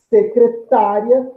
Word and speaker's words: secretária: Secretária, eu tenho esse IA num só impulso, logo eu tenho uma semivogal som breve seguido de uma vogal som forte, formando um ditongo crescente. Acentue-se a sílaba tônica dessa palavra, que é a penúltima na regra das paroxítonas terminadas em ditongo crescente.